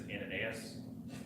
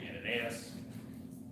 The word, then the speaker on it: Ananias: certain disciple at Damascus named, I think the pronunciation is Ananias, that's how I'm calling him.